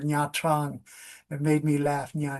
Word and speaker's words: Nha Trang: really had me say Nha Trang. And I was laughing because Japanese people say that the cat says Nha Nha Nha. So it's the same pronunciation as Nha Nha Nha for Nha Trang.